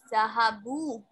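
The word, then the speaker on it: ذهبوا: Now they went is Zahabu. Zahaba means he went and Zahabu means they went. Note that there is an alif at the end of the word which is not pronounced.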